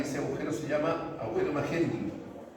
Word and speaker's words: Magendie: por acá, y ese agujero se llama agujero Magendie. Magendie, así se escribe, agujero de Magendie.